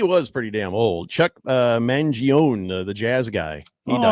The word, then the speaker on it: Mangione: Chuck Mangione? Mangione.